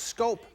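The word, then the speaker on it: Schoop: today they got Jonathan scope from the Baltimore Orioles for Jonathan Villar and prospects Louis Ortiz and gene Carmona it spelled s CH oo P but it's pronounced scope 14 homers for D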